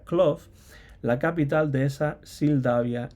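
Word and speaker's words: Klow: calles de Cloud Aunque yo entonces pronunciaba Cloud o pensaba que se pronunciaba Cloud pero parece ser que la W se pronuncia duda con lo cual sería cloft la capital de esa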